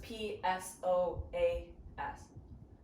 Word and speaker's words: psoas: a muscle called your soaz if you've seen it written but maybe don't know how to pronounce it it has a silent p in front of it so it's p s o a s yeah um so your